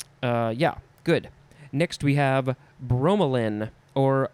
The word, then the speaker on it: bromelain: Next we have bromelain or bromelain, B-R-O-M-E-L-A-I-N. Could also just be bromelin with an L-I-N at the end.